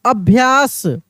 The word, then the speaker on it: अभ्यास: है घोषित के बाद अभ्यास अभ्यास अभ्यास तो अ आधा भ या स अभ्यास ठीक है ना उच्चारण